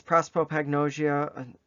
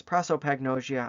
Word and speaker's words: prosopagnosia: prosperopagnosia so prosperopagnosia pro it's written out as prosopagnosia but it's prosperopagnosia and i'm even saying it wrong it's prosopagnosia i just cannot pronounce